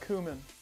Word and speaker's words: cumin: ] in there okay whatever carl dude it's pronounced cumin throw some more butter in there you got